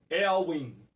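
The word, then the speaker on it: Éowyn: na verdade o ciclone elwin é assim que se pronuncia eu pesquisei a pronúncia correta elwin então aqui para que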